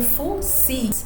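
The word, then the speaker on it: Fuxi: em outras biografias, o Fo-Hi sendo conhecido como Fu-Xi e sendo pronunciado como Fu-Si, sendo tratadas para o mesmo personagem, para o mesmo sábio.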